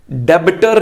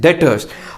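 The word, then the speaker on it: debtors: तो उधार पर बेचने का मतलब आ गया कि जिसको उधार पर बेचा वो हमारे लिए डेटर्स, डेबिटर नहीं, बी साइलेंट है, इट इज डेटर्स।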